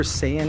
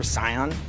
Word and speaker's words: Saiyan: Um, Adam and Morgan, um, in episode 103 in Dragon Ball Z review, you guys mispronounced Super Saiyan as Super Scion.